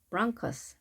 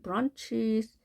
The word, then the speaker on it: bronchus: 그러니까 브런치로 읽지 않고 bronchus, 때로는 bronchus 이렇게는 안 하고 브런치라고 하는 단어를 가끔 하는데요. bronchus입니다.